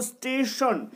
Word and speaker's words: স্টেশন: করবে এখানে দেখো যেমন স্টেশন ন টা ন এর মত উচ্চারণ হচ্ছে টেনে উচ্চারণ হচ্ছে না এ কারণেই ন এর